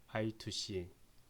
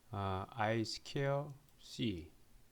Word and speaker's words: I2C: 다 직렬통신이에요 직렬 통신인데 보통 이제 이렇게 읽을 때 우리가 i2c 또는 다른 말로는 is 케어 C 그래서 i2c 혹은 아이스퀘어시보다는 i2c가 이제 발음하기가 편하니까 i2c라고 얘기를 하겠습니다 그래서 아두니아에서는 보통 직류